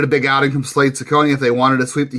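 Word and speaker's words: Cecconi: Sakonei, I think is how we pronounce his name. Did I nail that one, John? Unless you're Italian, then it's Chakonei.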